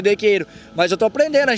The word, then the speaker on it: Decatur: Decatur, se escreve. Mas aqui o povo chama de dequeiro.